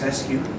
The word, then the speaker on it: Resque: jobs and Crossing into multiple views so it's pronounced as rescue but it's Anthony uh spelled as with a